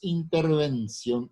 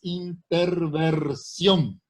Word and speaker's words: interversión: Y la palabra no es intervención, es interversión. Se escribe con S, porque viene de intervertir, que a su vez tiene relación con la palabra revertir.